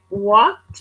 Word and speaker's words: walked: Walked, walked, walked. I'm really actually not pronouncing the K sound.